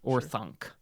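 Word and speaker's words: Orthanc: Orthunk. Or it's very, uh, it's very guttural, I guess. It's very It feels kind of German in the way that you would pronounce it.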